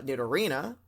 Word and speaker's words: Nidorina: __ ] me uh that would be nito nito or none uh i don't know that was a weird accent that you put on there uh but i'm gonna assume that you meant to say uh did arena um which of course